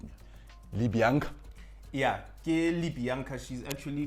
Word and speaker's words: Libianca: And at number 7, I think I might be saying this name wrong, so you might need to correct me. Libianca.